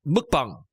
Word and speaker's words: mukbang: know do you know the actual pronunciation is mukbang mukbang but it's spelled mukbang it's mukbang mukbang yeah